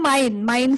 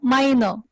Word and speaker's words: meine: Okay, see, everywhere you were just saying mine family, mine Mutter, mine Vater. It's not like that. If it is a feminine, then you have to pronounce it as meine.